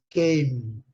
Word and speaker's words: came: Nesse caso aqui, Como a letra E não é pronunciada, termina com o som de M. Came, Came.